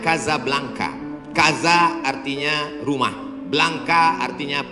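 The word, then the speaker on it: Casablanca: nama negaranya Maroko ibuotanya tulisannya Casa Blanca cara bacanya kazablanca Kaza artinya rumah Blanca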